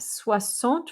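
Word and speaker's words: soixante: o in there and that x makes an s sound so we have sua sant for sixty suas do i swear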